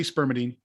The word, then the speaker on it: spermidine: So let's go back to Spermidine, and it's Spermidine or Spermidine. I think I've been saying it wrong. It's tomato. Okay. we say Spermidine.